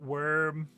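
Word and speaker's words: wyrm: You pronounce it worm. Worm. Same as worm.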